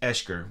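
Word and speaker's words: Oeschger: It's pronounced Eshker when you see the spelling here.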